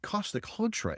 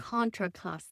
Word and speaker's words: Contra Costa: and this is um and Costa Contra area and Contra Costa Contraosta thank you I always get that wrong Contraosta but these vines